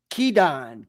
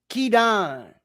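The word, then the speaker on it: Kidan: Masha Kedan. K I D A N like some of y'all ghetto cousins. Kedon.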